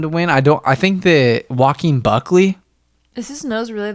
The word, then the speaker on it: Joaquin: It sounds like you're saying walking Buckley. Joaquin.